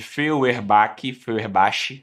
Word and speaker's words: Feuerbach: vai ser em Feuerbach, que se escreve Feuerbach, na verdade, com CH, tá? Se preparem para usar isso na prova oral. Então, fala Feuerbach, tá? Escreve Feuerbach, mas esse sujeito foi justamente